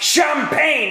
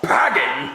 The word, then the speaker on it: champagne: Well, you know it's pronounced champagne and not pagging.